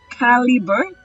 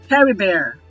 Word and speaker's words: Caribert: Caliber or Caribert? Caribert.